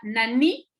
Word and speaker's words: nani: por ejemplo, esta palabra nani es una pregunta, ¿no? Nani, ¿dónde? La I ahí se pronuncia muy fuerte, ¿sí?